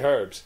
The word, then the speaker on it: herbs: special he goes and you say herbs and we say herbs because there's an fing H in it that's right we're just